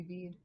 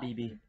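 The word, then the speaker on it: Bede: name and everything really i think it's supposed to be bead i was pronouncing that bb oh and now we've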